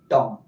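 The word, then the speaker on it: tomb: तो क्या पढ़ेंगे लंब यहां देखिए एम के बाद क्या आया है बी आया है तो ये बी क्या हो जाएगा साइलेंट तो क्या पढ़ेंगे और यहां भी एम के बाद भी आया है बी हो जाएगा साइलेंट तो क्या पढ़ेंगे टॉम समझ गए होंगे यानी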